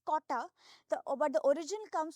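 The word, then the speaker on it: Cotta: called Kota area so they spell it as c-o-t-t-a which is Kota the over the origin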